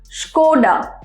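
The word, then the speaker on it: Škoda: it a core a just Skoda so a pronunciation of it go down it's school it's now school its Skoda tile oshiruko - wait don't destroy it now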